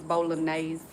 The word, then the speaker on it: bolognese: It's bolognese.